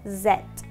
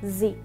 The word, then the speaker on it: Z: Z se pronuncia como set de nuevo set y en cambio en inglés americano la letra Z se pronuncia como sí de nuevo Sí y un